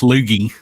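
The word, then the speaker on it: Loggia: is a good actor it's just pronounced lugie Robert lugie Robert lugie is a great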